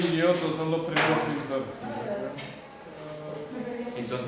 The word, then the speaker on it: Giotto: Se llama Giotto, pero la G es G, así que Giotto, Cimabue y Giotto. Cimabue y Giotto son los primeros pintores.